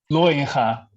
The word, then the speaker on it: Looijenga: Looijenga is the correct Dutch Bravo.